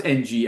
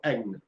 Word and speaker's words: Ng: How do you pronounce NG as a last name? I say Ng, but I think some people go Eng.